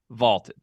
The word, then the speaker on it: Vaulted: That's Vaulted, VLTED, pronounced Vaulted.